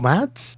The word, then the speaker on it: Mads: Mads.